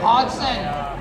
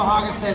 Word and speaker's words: Hodgson: There's a D in there. Joe Hodgson. You like having a D in you, don't you? Hodgson. Oh, the D is silent. Okay, I understand. Okay, I get that. It's a Canadian pronunciation.